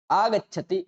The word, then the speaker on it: आगच्छति: आगच्छति ऐसा ही उच्चारण करना है, बीच में व्यवधान नहीं करना।